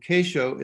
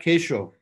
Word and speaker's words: kesho: And kesho is one word because you stress the next to the last syllable, a.